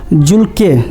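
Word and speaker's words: Dzulke: तो दोस्तों आपका यह नदी का नाम है आपका दोस्तों ध्यान रखिए दोस्तों जुल्के जुलके नदी में खोजी गई। ध्यान दीजिए दोस्तों यहां ये डी साइलेंट है तो जूल के नदी में खोजी गई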